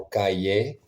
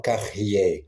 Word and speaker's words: cahier: notre notre journée avec mon cahier cahier cahier non carer cahier la prononciation est très différente cette mot carrier qui